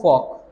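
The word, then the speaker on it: folk: उसी प्रकार वर्ड आया देखो फॉक, एल है जो साइलेंट रहेगा, फॉक वर्ड है, ठीक है।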